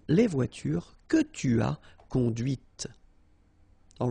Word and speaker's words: conduite: and then the feminine, conduite. Okay, so here you can listen to this t, okay, conduite, all right?